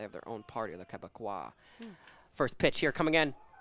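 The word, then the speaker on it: Québécois: The Quebecois native.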